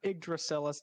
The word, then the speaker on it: Yggdrasil: playing a game called yggdrasil or igracillus that's properly pronounced uh and he has